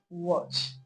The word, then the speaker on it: watch: we pronounce as R, except the word watch. That's the only word that does not contain the short R sound.